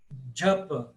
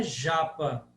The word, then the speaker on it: japa: sombra depois você tem a palatal que se escreve como J mas se fala como d j como em adjetivo por exemplo então Jap não é Japa não é Japa não